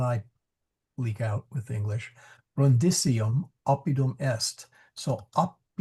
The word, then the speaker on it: Brundisium: So brundisium sorry yeah brisium short I excuse me. See even I leak out with English. Brundium opidum est.